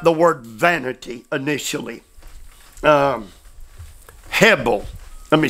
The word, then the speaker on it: hebel: let's talk about the word vanity initially um Hebel let me spell it h-e-b-e-l Hebel preacher can you tell me